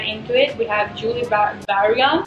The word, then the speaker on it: Julie Bergan: We have Julie Bergan. How do you pronounce it in Norwegian? Julie Bergan.